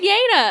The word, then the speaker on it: Yeine: knife and like she gives it back to Yeine. And I've never said it wrong. And then now you're like, you're in my head. But I've been saying it right. I've been saying Yeine.